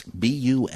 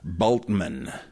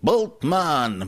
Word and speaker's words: Bultmann: Yes, B-U-L-T-M-A-N-N. He's a German, obviously. The U is long, and the A is long, I guess. In other words, it's not Bultmann. It's Bultmann. And that's kind of important.